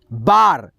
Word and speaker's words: bar: रहा है, ठीक है, ए अक्षर, तो इसका उच्चारण आ आएगा, कार, कार। जैसे यहाँ पे देखिए BAR, क्या हो गया, BAR, बार, ठीक है।